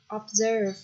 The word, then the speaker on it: observe: Observe, từ này trọng âm sẽ bằng tiết thứ hai.